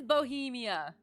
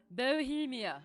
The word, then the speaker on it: Bohemia: See how it is pronounced. Just to make sure I'm not... It is Bohemia. Bohemia.